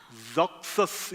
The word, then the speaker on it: Xerxes: 이게 영어 발음은 되게 특이해요. 영어 발음은 Zoxus 이렇게 발음을 한대요. Zoxus.